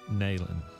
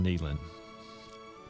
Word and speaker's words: Neyland: deaths was the grandfather of general robert rees naylan but it's pronounced neyland the confederate soldier lieutenant colonel robert reese neland